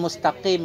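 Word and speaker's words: مستقيم: Misalkan mustaqim itu kita baca antara qaf dan kaf.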